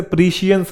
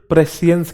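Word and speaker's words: prescience: और ये जो नाउन फॉर्म होता है इसे प्रीशियंस नहीं प्रेसियंस कहते हैं, प्रेसियंस।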